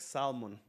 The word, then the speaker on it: salmon: kind of looks like salmon. Salmon color. That That's a That's a color. Salmon. Salmon color. Salmon. Salmon. You know, it's spelled with an L. So, yeah. Forget the L.